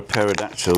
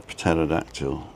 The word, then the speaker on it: pterodactyl: Can you hear a pterodactyl? Go to the toilet because the P is silent. Why can't you hear a pterodactyl?